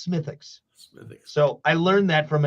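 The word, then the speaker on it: Smithwick's: what's funny is and I'm saying it right because it smelled it or it spelled Smith Wicks but the Real the true Irish way to say it is smithix so I learned that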